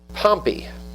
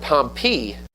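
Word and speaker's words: Pompey: Pompy is how you really pronounce his name, by the way.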